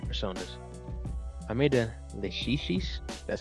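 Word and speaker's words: Lachesis: I made a Leshishis, that's how you say it, who has Growth 2, but becomes a Growth 3 skill thanks to fusing her during an alarm.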